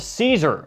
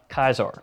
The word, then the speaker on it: Caesar: It's called Caesar, or depending on how you want to pronounce that, where you're from, and whether you've played Fallout New Vegas or not, Kaiser.